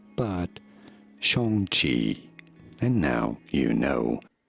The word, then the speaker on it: Shang-Chi: Yes, it is Shang, not Chang or Shang, but rather Shang, Shang Chi. Shang Chi. Pretty straightforward once you know, not Shang Chi, which everybody says, but Shang Chi.